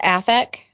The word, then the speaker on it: Athak: project that you work on solo is called affect yes i say it right you say perfectly